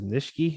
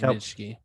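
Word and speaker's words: Nsekhe: I believe this is Nishke, is how you say it. He's a tackle from Buffalo originally. I think it's Nishke. Yeah, Nishke.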